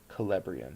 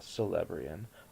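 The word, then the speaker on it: Celebrían: have celeb Calabrian stone I believe the sea and that is a hard C so Calabrian or not a celeb rien although it could go either way and therefore we can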